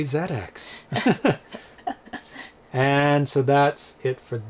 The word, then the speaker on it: ZX: the zx spectrum and it is pronounced zx because it's british you like to emphasize